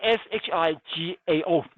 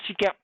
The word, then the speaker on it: 石膏: 石膏 SHIGAO. Instead of GAP, it's not shigap, but 石膏.